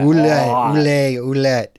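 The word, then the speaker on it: Ouelet: I can never pronounce this name. It's a really hard to pronounce. I think you say it like that. Ouellette.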